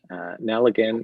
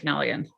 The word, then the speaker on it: Nelligan: So now we have, and correct me if I'm pronouncing this wrong, Nalligan and area variance? Yes, that right? my husband is Patrick Nelligan.